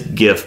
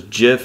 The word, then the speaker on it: gif: Carlton dancing gif and it's gift by the way with a solid G if the hard G if it was jiff it would be spelled with a J like the peanut butter hash tag Sheldon moment